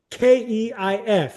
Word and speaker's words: Keith: It's not Keith Thurman. It's Keith. Keif, all right? Because that's how he says it himself.